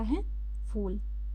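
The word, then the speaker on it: half: Flowers मतलब होता है फूल। हाफ एच ए एल एफ हाफ। एच L silent है।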